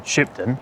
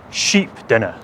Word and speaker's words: Shipden: The original settlement was a place called Shipden, or at least its modern day pronunciation, Shipden. Back in the times of Old English, it would have been sheepdenner, or sheepden.